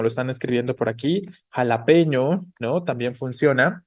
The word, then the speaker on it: jalapeño: están escribiendo por aquí jalapeño no también funciona Cuál es la sílaba tónica de la palabra jalapeño p no efectivamente entonces jalapeño es una palabra grave pero termina en vocal